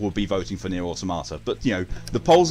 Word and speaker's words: Automata: It's Nier Automata. It's just, you know, I mispronounced it and went Automato.